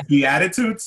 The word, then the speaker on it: Beatitudes: Beatitudes, Sarah?